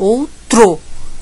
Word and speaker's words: outro: a consoante é outro então o t vai arrastado porque ele vai com R ele vai arrastado outro até chegar o outro